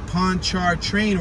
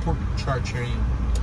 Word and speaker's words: Pontchartrain: The neighborhood began to develop in 1830 when the Pontchartrain Railroad connected the Faubourg Marigny.